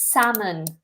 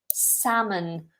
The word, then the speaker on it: salmon: a B1 level, is salmon. Salmon. No L is pronounced here.